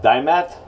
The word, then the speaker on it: Diamant: Croma blades now um I believe is pronounced chroma dime at there they are right